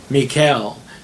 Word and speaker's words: Michal: tonight has a name her name is mikael uh it's almost spelled like michael but it's it and they mean the same thing but it's mikael m-i-c-h-a-l there's no e so her name means